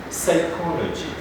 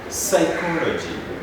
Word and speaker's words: psychology: letter is p whereby the p is not pronounced every time we are saying these words the first word is psychology psychology we talk about a